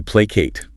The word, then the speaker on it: placate: Next verb is to placate. To placate. Placate. Stress on the first syllable.